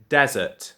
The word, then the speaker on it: desert: So I would say desert for that one. And then this one I'd pronounce dessert. So there's a slight difference.